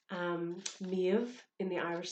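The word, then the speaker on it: Méabh: for example like um miev in the irish spelling ends in a b h because that is our v sound but you will also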